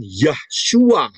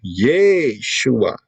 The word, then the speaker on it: Yeshua: Jadi bukan Yahshua. Itu pola Satan. Ya. Yahoshua. Ya, tidak, yang benar adalah Yeshua.